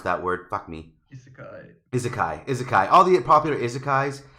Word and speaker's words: Isekai: It's all like characters that you know from the popular Izake, however you pronounce that word. Fuck me. Isekai.